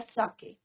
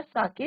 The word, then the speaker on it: sake: तो what he said, I wish I हैड अ कप ऑफ साके. अब इसको आप प्रोनाउंसिएशन क्या होगा? साके, नॉट सेक.